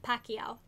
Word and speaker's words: Pacquiao: so that is how i was saying it pacquiao pacquiao okay okay i just like to make sure that i'm pronouncing things right it's pronounced homophobe oh my